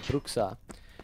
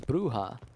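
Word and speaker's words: Brujah: had that discussion about the pronunciation of brooka which in vampire the Masquerade is bruha you know more appropriate and correct there we go BB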